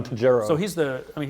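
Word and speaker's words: Tojeiro: now this is a tejero is that how you say that that's how i'd pronounce it yes john tajero so he's the i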